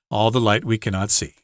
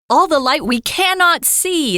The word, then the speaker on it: All the Light We Cannot See: All the light we cannot see is how he likes it pronounced. All the light we cannot see. The author kind of wanted to 强调, emphasize cannot.